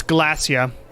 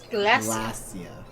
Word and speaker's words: Glasya: It's Glacia. Glacia. Yeah, not Geryon. I don't know where I got Geryon.